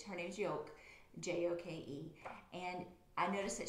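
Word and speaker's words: Joke: and i've just realized i've been pronouncing her name wrong but it's her name's yolk j-o-k-e and i noticed that she was stitching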